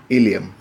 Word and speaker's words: ilium: Now in the hip bone, this is not ilium, we should pronounce as ilium. These things are a bit difficult, but we should pronounce this way. We should try to pronounce this way, ilium.